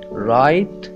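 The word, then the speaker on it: write: डू करना, work काम, राइट लिखना, राइट दूसरा वाला राइट, एक डब्ल्यू वाला राइट है जिसमें डब्ल्यू साइलेंट है, इसका मतलब है लिखना,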